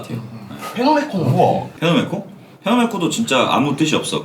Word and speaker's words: 페노메코: 원래 이제 막 영어 이제 원 사람들은 피노메코 막 이렇게 한단 말이에요. 근데 원래 그게 이제 일본식으로는 그냥 페노메코 이렇게 발음 기호가 그렇게.